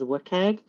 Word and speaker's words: WCAG: So like Web Content Accessibility Guidelines, also known as WCAG in accessibility circles. That's how we all pronounce it.